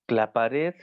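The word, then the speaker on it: Claparède: Pero bueno, John Dewey, de Crowley, Montessori, Clapared, ¿le suena? Clapared, Claparede se escribe.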